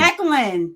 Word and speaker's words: Declan: Is it two syllables or three? Say it with me. Declan.